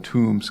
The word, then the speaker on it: Toombs: So Santa Claus is located in Toombs County. That's Toombs, not Tombs, although Okay. it's pronounced the same.